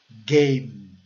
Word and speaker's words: game: Game. Fechando a boca ao final. A letra final é E. Né? Mas como ela é silenciosa, o som final é do M.